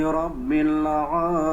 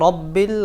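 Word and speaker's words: رَبِّ: আলহামদু লিল্লাহি রব্বিল আলামিন। অনেকে বলেন রব্বিল, বাংলা ভাষা যে র আছে, র বর্ণ, এটা ভুল। র জবর র, রব্বিল না, রব্বিল, রব্বিল আলামিন।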